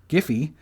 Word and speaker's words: Giphy: none it's like yeah it's giphy with a hard g okay but then why